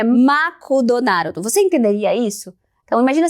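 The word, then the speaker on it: マクドナルド: Aí, se você pensa que sempre vão te entender, lembra que em japonês, a pronúncia de McDonald's é Makudonaru.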